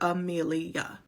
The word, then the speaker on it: Amelia: In my head, Amelia is 3 syllables, but I feel like some people will use 4. Amelia.